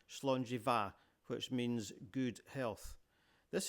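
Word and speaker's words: Slàinte mhath: You can see that it's not just the BH that's sounded as a V. MH is too. Here it is again on the Scottish toast slongjiva which means good health.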